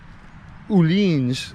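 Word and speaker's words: Öhlins: love the rear shock everything's olins or uleans is how another guy on the youtube channel pronounces it he's from germany and he would know but uh yeah this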